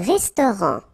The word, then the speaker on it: restaurant: Un restaurant. Final T not pronounced.